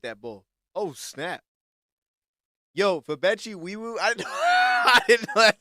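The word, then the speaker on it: Febechi Nwaiwu: the 2026 NFL Draft, the Houston Texans select Fabechi Wiwu, guard from Oklahoma. Ah, they got a dog right there, bro. Fabechi Wiwu. Oh, snap. She's going crazy with that bull. Oh, snap. Yo, Fabechi Wiwu.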